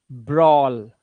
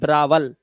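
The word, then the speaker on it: brawl: स लौ शॉल ड्रॉ ब्रॉल ना कि ब्रावल ब्रॉल ए डब्ल्यू का उच्चारण क्या औ से ठीक है ब्रॉल चलो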